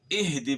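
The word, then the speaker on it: اهدِ: بھی واضح ہو گیا۔ تو اہدی پڑھنا ہے ہم نے، ایدی نہیں پڑھنا۔ ہا کو جو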